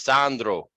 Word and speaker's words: Sandro: gonna tell you guys how to say my name right this is what my cousins would say they were laughing they said my name is Sandro I don't expect you to roll your r's but it's not something